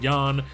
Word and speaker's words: Ian: mahimi I don't know I just know his first name is pronounced Yan 12 points four rebounds